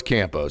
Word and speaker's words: Campos: And he said, "Oh, it's Campos. Trust me, it's Campos."